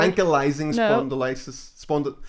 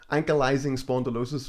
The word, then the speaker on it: ankylosing spondylitis: Ankylosing spondylosis was what I kept saying. So you just had the vowels the wrong way around in the wrong word. It's ankylosing spondylitis.